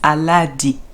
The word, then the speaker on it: Elodie: welcome to today's video my name is Elodie I like oh yeah so if you don't know how to pronounce it that is how to pronounce my name probably that is that